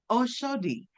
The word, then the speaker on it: Oshodi: Am I saying it right? Oh, Shodi. Oshodi.